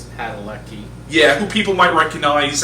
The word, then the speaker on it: Padalecki: I think it's Padalecki.